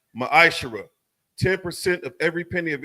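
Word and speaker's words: מעשר: 8-10 it means 10th in the Hebrew is pronounced maishara 10% of every penny of any increase the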